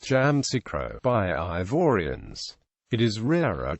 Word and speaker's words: Yamoussoukro: Jam orro is pronounced jamro by ivorians it is rarer to hear y micro the second U is silent history prehistory stone tools